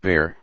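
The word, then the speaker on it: Bexar: the rural areas of behar pronounced bear county and terrorized anyone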